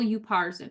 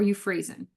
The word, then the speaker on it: Upharsin: And what it says is, Mene, mene, tekel, upharsin, or euphrasin, right? I've heard it pronounced either way.